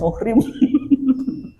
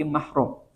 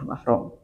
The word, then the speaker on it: mahram: Kadenya aduh punten ibu salaman abis sanes muhrim. Gitu. Ya, kadang salah banyak salah pengucapan. Ya, muhrim teh jadi yang dimaksud adalah nasab padahal salah, bukan itu tapi mahram. Ya, mahram.